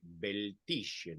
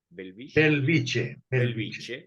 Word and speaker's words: Bellvitge: el Hospital Universitario de beltisien no es así se pronuncia belviche en Barcelona sí profesor